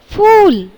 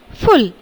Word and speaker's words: फूल: इसके बाद है, पहला शब्द है फूल और है फुल। तो फुल नहीं कहते हैं, क्या कहते हैं हम लोग? फूल। यानी जो पहला शब्द है फूल वह सही है और दूसरा गलत।